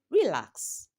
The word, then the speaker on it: relax: So by the time someone is speaking and they say relax, relax, the word is not pronounced correctly because the word relax will always be a verb. It will always be a verb and the stress will occur on the second syllable.